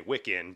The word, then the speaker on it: Wiccan: wicked practice and uh and you told me wikin but then also had a little uh diatribe